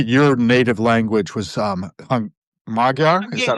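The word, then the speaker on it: Magyar: I think your native language was um Magar. Is that right? Yeah. Majar.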